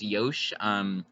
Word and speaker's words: Yosh: I think it's pronounced Yosh, as in Yoshio, the character.